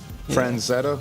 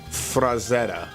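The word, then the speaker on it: Frazetta: Frazzetta. Franetta, however you say his name. Rosetta Stone. Frazzetta. There's no there's no N in it.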